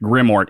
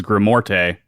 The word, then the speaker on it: Grimort: pronunciation, by the way, because I initially had thought it was Grimorte. I guess I asked him too. I was like, could you send me a voice clip on how to say it? But he was like, it sounds the way it sounds the way it's spelled.